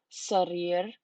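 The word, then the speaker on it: سرير: And next we have sarir, so that means bed.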